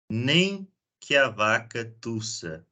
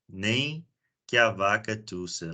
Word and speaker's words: nem que a vaca tussa: We pronounce it nem que a vaca tussa. Nem que a vaca tussa.